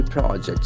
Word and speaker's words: project: As a noun, we'll have the accent on the first syllable.